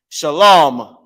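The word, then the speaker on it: שָׁלוֹם: law okay shal Ma when you pronounce this law it's going to make this ah at the end is going to make it very small of a sound Shalom right now let me show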